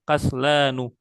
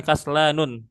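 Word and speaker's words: كسلان: Makanya kita bacanya kaslanu, bukan kaslanun, tapi kaslanu.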